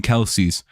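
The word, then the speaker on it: Kelce: Like technically I believe Travis and Jason Kelsey's last name is just Kelse. I don't think you're supposed to annunciate the e sound at the end of it.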